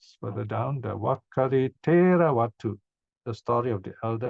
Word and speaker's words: Vatthu: So this word Vatthu is seen as in Sanskrit vastu, and the Thais have a way of pronouncing as as ending. They don't pronounce it as they pronounce S as D, so become Vatthu.